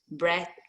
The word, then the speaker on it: breath: Breath.